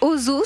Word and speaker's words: Hozho: Ozo, ça s'écrit H-O-Z-H-O.